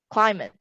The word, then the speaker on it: climate: Most of the words here are actually stressed on the second syllable except for one, and that is letter A, climate. Climate is stressed on the first syllable.